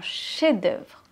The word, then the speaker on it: chef-d'œuvre: J'ai montré mon chef-d'œuvre. J'adore ce mot parce qu'il est un peu compliqué à prononcer. Chez, on ne prononce pas le F. Chez d'œuvre. Un chef-d'œuvre.